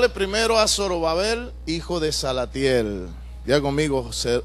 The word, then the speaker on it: Zorobabel: a hablar de zorobabel diga conmigo zorobabel la pronunciación correcta es sarabel sarab Babel es era